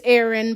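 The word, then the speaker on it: Ahrn: next to Ain Aaron it's Aaron but it's spelled a h r n who wiggled his eyebrows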